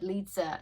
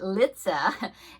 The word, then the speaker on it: Litza: using the colors that Lisa no sorry said it wrong I'm using the colors that litza um it tells us